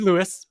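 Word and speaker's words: Luis: This is Lewis, pronounced like Swiss, with another email and doodle.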